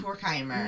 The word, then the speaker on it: Horkheimer: I do believe it's pronounced Horkheimer.